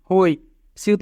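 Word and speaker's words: 회사: হুত প্রথমে থাকলে হ, যদি দুইটি স্বরবর্ণ থাকে তবে নিচের স্বরবর্ণটি আগে উচ্চারিত হয়, ও হো ই রাসছি হই। সিউত মাঝে থাকলে দন্ত স আ সা হইসা, হইসা মানে কোম্পানি।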